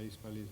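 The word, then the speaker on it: Híspalis: lo latino de hispalis, que debe decirse hispalis, por cierto, con acento en la I, a pesar de que no venga el acento, pero es una palabra latina, pero es hispalis.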